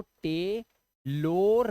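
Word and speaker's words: tailor: इसे आप इसे आपको टे लोर नहीं पढ़ना है लोर गलत हो जाएगा आपको ओ आर लास्ट में है तो इसे आ की आवाज से पढ़ेंगे आ की आवाज तो ये हो गया टेलर डॉक्टर इसे डॉक्टोर नहीं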